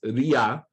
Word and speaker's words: Ra: And by the New Kingdom, by the time of King Tut, it was Ria, because the W drops. The W is actually a consonant, that U sound at the end.